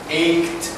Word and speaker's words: ached: ตัวนี้นะ This is pronounced ached. Ached. So it's more like ached.